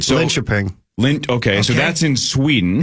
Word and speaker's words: Linköping: So Linköping.